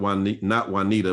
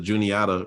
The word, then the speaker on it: Juniata: I never can pronounce not Juanita, but the Juniata River.